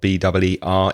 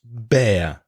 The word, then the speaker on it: beer: The first thing to mention about beer is the pronunciation, because the vowel sound of B-E-E-R is ear, like here. So a beer, cerveza, a beer. Not bear, because bear is oso.